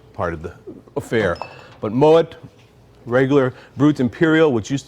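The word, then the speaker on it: Moët: the time one is Moet Chandon people come and try to pronounce it Mo because it's French actually the name is a German descent so it's Moet much like Piper heik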